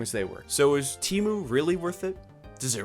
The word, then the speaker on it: Temu: And for anyone commenting it's pronounced Temu, hee hee.